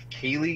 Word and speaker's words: Keighley: That Jeff Keighley guy, is that how you say his name? Yeah, Dorito Pope. So, well, yeah. Jeff Keighley.